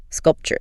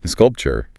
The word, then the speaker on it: sculpture: Yeah, maybe a sculpture. Notice the T makes a chi sound. Sculpture. Sculpture.